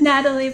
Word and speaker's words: Nathalie: always get confused like i saw the th in there and i was like is it natalie or nathalie i hope i'm not pronouncing your name incorrectly it's natalie but i i'm not